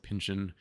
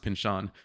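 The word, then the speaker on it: Pynchon: heard his name spoken so I always said Pinchin Pinchin Pinchin I started talking to people like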